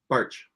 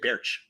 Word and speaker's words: Baertsch: now uh rt-sch how do you say your name again barge i always want to say bearch it's just march ae is weird i totally get that